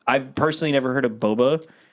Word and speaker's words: boba: I thought it was Baba no it's and that's the thing too like the real how do you pronounce it yeah it's just Boba it's just Boba just b